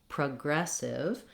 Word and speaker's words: progressive: So I don't say an O or an ah for this letter O. One thing I suggest when you're trying to work on words like progressive that have second syllable stress is to start the word with the stress syllable. So to begin, leave the PRO off and just say the word as though it were aggressive.